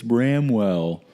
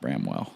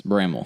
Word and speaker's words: Bramwell: it's Bramwell it's not Bramwell it's Bramwell if you go to Bramwell and say Bramwell you're gonna get looked at funny by everyone that lives there at Bramwell basically take the W out and that's what you